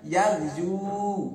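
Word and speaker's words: يغزو: Sehingga yazu ini bacanya yagzu, yagzu.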